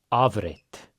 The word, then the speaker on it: afrit: Or sometimes they'll say avrit. The F here makes a more of a V sound.